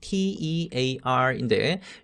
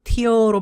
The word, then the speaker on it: tear: tore의 원형은 T-E-A-R인데 요거 발음할 때 tear로 발음하게 되면 눈물이라는 뜻이 되니까 여기에서는 동사로 tear처럼 발음하면 좋겠습니다.